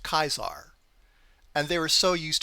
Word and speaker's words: Caesar: And he told them regarding the Caesar cipher, "Technically, it's pronounced Kaisar."